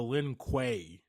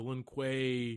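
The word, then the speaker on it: Lin Kuei: I think he said for the Lin Quay. Linquay. Yeah, that sounds a lot better.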